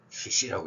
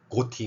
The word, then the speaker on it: ghoti: 자 봐, enough, 여기 GH 어떻게 읽어? F로 읽잖아. 자, WOMEN, 이거 O 어떻게 읽어? 위민, I로 읽잖아. E. 그리고 션 들어간다는 아무거나 생각해봐. attention, 그러면 attention, 여기 봐봐, TI, 쉬 발음 나네. 그러면 발음으로만 따져봐. F, I, SH. 그래서 GHOTI는 CC야. 버나드 쇼다운 주장이었죠.